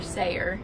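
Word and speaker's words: Sayer: Harrison Oregon played by Church's music director Roger seer that's how you say his name he later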